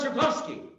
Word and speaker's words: Zuchowski: what relief i mean what's so hard about zerkowski you say the way it's spelled but anyway i learned